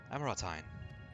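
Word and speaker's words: Amaurotine: the average amorite amorite amoratine that's how you pronounce it apologies for the wait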